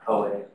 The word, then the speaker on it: Huawei: And there are lots of vulnerabilities in I'm not sure how to pronounce that word, but Huawei routers.